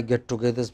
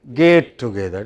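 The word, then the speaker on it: get-together: three or four alumni get togethers because they alumni bring money of course okay so so you know we always have lots of get togethers but many people pronounce get together as gate together gate is another matter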